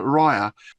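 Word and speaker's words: Ryre: stories as well oh yes with a character Rya is that right right pronunciation yes yes and I was also pleased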